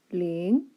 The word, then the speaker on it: 零: First of all, the pronunciation. 零 l 银零. So this is l, this is 银. It's rising tone.